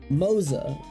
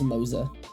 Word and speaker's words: Moze: talk about probably the weakest of the characters mosa that's how they say it and I will I I'm probably going say moose just site but it's pronounced mosa which is kind of weird um well you